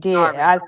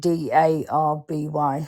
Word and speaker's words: Derby: We say Darby. as it's spelled Derby, but we pronounce it Darby.